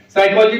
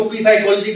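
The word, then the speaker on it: psychology: बात हम करते हैं साइकोलॉजी में प साइलेंट है अगर जानकारी नहीं है तो हम इसको पी साइकोलॉजी कहेंगे या कुछ कहेंगे टॉक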